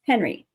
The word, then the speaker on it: Henri: And I was like, oh, it's Henry, right? But it's spelled Henri because it's French.